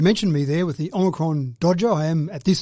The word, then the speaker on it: omicron: at this stage although i prefer to pronounce it oh micron it just seems like it's a little bit more exasperating yeah that's right that's i think it's i think it's the o should have oh hyphen micron so